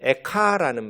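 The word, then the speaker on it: איכה: 공교롭게 애가라는 우리말하고 비슷한 발음인데 에카라는 말, 그것이 원래 히브리어 성경의 이름입니다.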